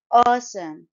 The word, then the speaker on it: awesome: fantastic in red dress awesome it's a two syllable word syllables are underlined in the fmic script and stress is on the first syllable as shown by the arrow all aome note that